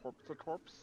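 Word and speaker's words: Corps-a-corps: It's pronounced And- corpse to corpse.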